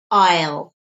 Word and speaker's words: I'll: get this I'll pay notice the pronunciation because in speech we don't often say I will we said Isle Isle is a very quick sound Isle Isle Isle need to try and practice aisle I'll get this aisle